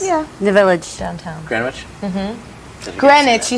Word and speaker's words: Greenwich: Greenwich. You said Greenwich. Greenwich. Bob. That's all right. Sorry. The W is silent.